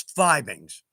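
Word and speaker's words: Fiebing's: It's kind of like fibings, phoebings. Technically, it's fibings, and that's straight from the source, which, by the way,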